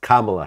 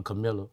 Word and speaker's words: Kamala: I think it's pronounced Kamala Harris. Well, I call her Camilla.